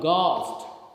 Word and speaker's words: ghost: In case of ghost, G-H-O-S-T, we speak g, but we write G-H.